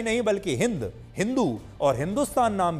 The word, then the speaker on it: हिंदू: जाता है की क्योंकि फारसी भाषा बोलने वाले लोग एस का उच्चारण हा से करते थे इसलिए सिंधु शब्द हिंदू शब्द में बादल गया वो बोलना तो चाहते थे सिंधु लेकिन सा नहीं बोल पाते थे इसलिए उन्होंने हिंदू बोलना शुरू कर दिया और जो